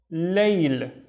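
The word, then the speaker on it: ليل: This one is layl. Can you guess how we pronounce it in our daily lives compared to, or based on what we have seen in bait and bain?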